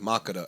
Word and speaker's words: Makeda: i think it's pronounced macada i think it's ethiopian but i'm not certain but i just wanted